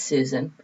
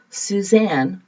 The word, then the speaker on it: Susan: well my name is susan i may say susan s-u-s-a-n some people hear my name as suzanne which is spelled differently so i know i'm